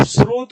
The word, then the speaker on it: स्रोत: भाई जब इसमें त है ही नहीं तो आप त क्यों बोलोगे? आप अजस्त्र बोलो आप स्रोत बोलो आप सहस्त्र बोलो और